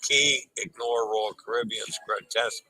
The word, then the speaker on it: cay: C-A-Y is pronounced key properly.